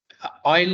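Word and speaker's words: Euler: uh uh to be more specific it is oil and LaGrange method okay so this is uh Eiler this is pronounced method so so let's uh first go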